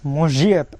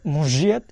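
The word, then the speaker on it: может: অন মসজিদ, অন মসজিদ ইস্কাজাত। এই যে যে অক্ষরটা দেখতে পাচ্ছেন এটার উচ্চারণ কিন্তু বারবারই আমি আপনাদেরকে বলছি, এটার উচ্চারণ জ, এটার উচ্চারণ জ।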